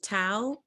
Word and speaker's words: Thao: start I just want to make sure I'm pronouncing your name right is it Tau it is it's nice to see everybody hello